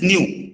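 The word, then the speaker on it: ν: This sign is called nu. Okay. This is not V. This is nu. Okay. अगर इसको लिखना चाहे तो that will be nu.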